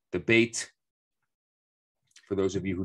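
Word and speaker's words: בית: Bet, actually, or bait properly. It's not necessarily bet, even though that's what we say in modern Hebrew. The proper word would be bait.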